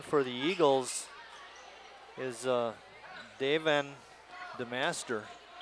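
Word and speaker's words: Daevin: uh daven the master we did a little research david to make sure we are pronouncing it right i hope we are d-a-e-v-i-n yeah we had checked out a couple times so we're going with davin kelly kelly kelly travels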